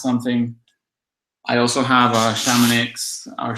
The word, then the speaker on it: Chamonix: I also have a Chamonix our chemin e si Chamonix because in Spain I guess we don't know how to pronounce French and that's how we say it so I'm sorry if